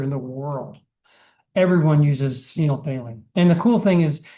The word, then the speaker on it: phenolphthalein: And the P is silent. It's like pneumonia.